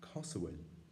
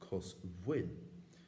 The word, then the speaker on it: cosúil: And from that spelling, you might expect an olster pronunciation like uh and a kuk and monster pronunciation like kosoid. And that kuk pronunciation is exactly what you find. that spelling is very suitable to their pronunciation. But with um ulcer speakers, you will find often the pronunciation kasaw and in some monster speakers you can still find the pronunciation kin.